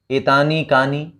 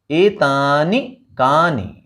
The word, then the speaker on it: एतानि कानि: मैं इस ई को, यहां ई को मैं थोड़ा अलग तरीके से बोल रहा हूं, एतानि कानि, जबकि आप सामान्य रूप से आपने सुना होगा इसे ऐसे एतानि कानि, तो वो हमारा उच्चारण ठीक नहीं है, क्योंकि हम ये ई यहाँ पर ह्रस्व है, छोटी ई है, तो हम इसे बोलेंगे एतानि कानि।